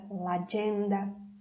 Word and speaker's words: l'agenda: Prestem atenção na pronúncia, que se une o artigo com a palavra l'agenda, tá?